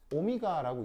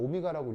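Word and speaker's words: Ω: 자, 읽을 때는 어떻게 읽냐면 오미가라고 있죠. 그래서 이제 그리스어 알파벳인데 뭐 읽을 때는 오미가라고 읽으시면 되고, 자, 뜻은 뭐냐면 뜻이 조금 아리까리해요.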